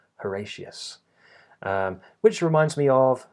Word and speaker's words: Horatius: It's not Horatius, but that has the schwa for the O spelling, Horatius.